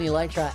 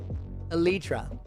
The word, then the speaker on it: Elytra: You can fly without an elytra, as in...